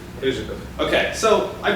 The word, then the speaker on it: Ryzhykov: Rizikov. Okay, so I butchered it mostly, but I even looked it up on YouTube to try to figure it out.